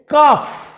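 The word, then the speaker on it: calf: ক্যামেলের বাচ্চাকে কি বলে কাফ এগেইন ক্যামেলের বাচ্চা হচ্ছে কাফ যা আমি একটু আগেই পড়েছি এল এর উচ্চারণ হবে না এবং ক্যামেল যে সাউন্ড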